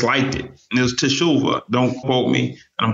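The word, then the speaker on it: תשובה: Teshuvah.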